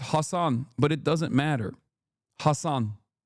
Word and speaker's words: Hasan: That's why I said like when people say hass uh it's not the correct inter correct pronunciation but I still appreciate